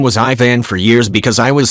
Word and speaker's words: Ivan: But, being Slavic, it's pronounced Ivan.